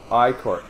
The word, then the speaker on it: ichor: That's pronounced Icor.